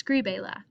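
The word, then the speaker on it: escríbela: what's my stressed syllable it's going to be screen escri oh it might even have the s escri escribe so my second to last syllable has the stress according to the rule so when i add escribe la write it i have to accent my eye to keep the original stress is skribela let's look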